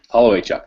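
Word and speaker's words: Holowaychuk: Does anybody know how to pronounce his last name? Holloway Chuck. Holloway Chuck, that's it.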